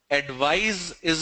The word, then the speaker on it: advise: Advice is a s sound. Advice. Advise is a z sound.